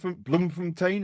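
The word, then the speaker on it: Bloemfontein: Bloomfontain. Is that how you pronounce it? Yes. Yeah.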